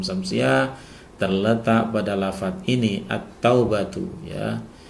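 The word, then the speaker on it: التوبة: terletak pada lafaz ini at-taubatu ya. Jadi alnya bertemu dengan huruf ta sehingga cara membacanya kita langsung masukkan alnya itu ke dalam huruf ta ya.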